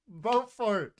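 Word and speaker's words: Beaufort: This man whose name was Bowfort was of a proud and unbending disposition and could not Hey Allison, I pronounced his name right. Bowfort, let's go.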